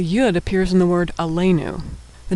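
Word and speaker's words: עלינו: Ain comets lmed s with the yud nun and shurik a le new alenu.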